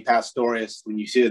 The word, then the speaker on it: Pastorius: bass players that florida has to offer pastorius am i saying your last name right